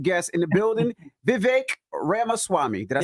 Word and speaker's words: Ramaswamy: And we got a special guest in the building, Vivek Ramaswamy. Did I say it right? That's actually pretty good. It's better than most hosts. Yeah, it's like Ramaswamy, like CD-ROM, but yeah.